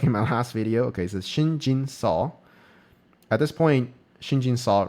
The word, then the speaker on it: Shin Jinseo: At this point, white uh Shinjin say Shinjin Soul. I I said the the name wrong like in my last video. Okay, Shinjin Saw.